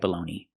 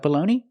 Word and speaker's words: bologna: Do you like baloney? Very good. Do you make bologna sandwiches? Very good. And we have this baloney. It's spelled differently, but it has the same pronunciation.